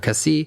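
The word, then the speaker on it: Cassis: after called Cassi and Cassi is spelled with an S at the end but you do not pronounce the S at the end of Cassi because French is a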